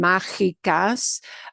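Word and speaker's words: mágicas: and interferes with uh your brain wants to say the word magic really badly okay because that's the way your brain processes that spelling like the word magic and it does mean magical but we have to pronounce it as okay so that is maybe one of the unusual that g i sound machicas uh one of the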